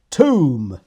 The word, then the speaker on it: tomb: Okay, let's go to the next one, which is tomb. Oh, I didn't do that for pronunciation.